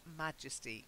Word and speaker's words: majesty: no gender okay then majesty the stress is slightly different not majestic but majesty we do say majestic yeah it was majestic but Majesty Majesty very good your majesty